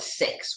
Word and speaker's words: SICS: sabotage she'll be SICS we call it six we pronounced the acronym it's easier than saying